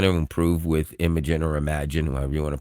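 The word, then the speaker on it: Imagen: Now I've been calling it Imagin for a long time but it's actually pronounced Imagine. It's just spelled differently.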